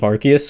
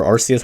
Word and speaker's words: Arceus: the Pokemon Legends of Arceus or Arceus however did you say please don't get into an argument like pronounce it how you want to say it I think both ways are are both right I don't care I